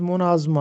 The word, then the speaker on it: مناظمہ: تلفظ اور معنی بتائیے۔ تو مناظمہ کا درست تلفظ مناظمہ ہے، میم پر پیش لگا ہے اور زوئے پر زبر لگا ہے، تو مناظمہ مناظمہ کہتے